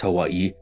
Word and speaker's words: Hawai'i: languages, but because the Kingdom of Hawaii, while pronounced Hawaii, was always written without it.